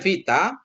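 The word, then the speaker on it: βήτα: Bacanya Vita transliterasinya V viktor ya. Transliterasinya V atau viktor untuk kata PQ ya.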